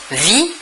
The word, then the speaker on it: vit: il, elle ou on vit, V-I-T. Nous remarquons que la prononciation du verbe est la même, vit. Nous ne prononçons ni la S finale ni la T finale.